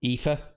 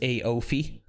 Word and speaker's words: Aoife: had about, like, so the bottom one there is Aoife, but yeah, the most common pronunciation over there was Aofi or Aof.